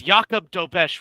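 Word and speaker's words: Jakub Dobeš: lost because Jakob Dobesh was in net, yeah.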